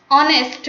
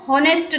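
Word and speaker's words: honest: For example an ऑनेस्ट मैन, इसको हॉनेस्ट नहीं पढ़ते हैं, एच साइलेंट है इसलिए इसका जो प्रोनाउंसिएशन होगा वो होगा ऑनेस्ट मैन।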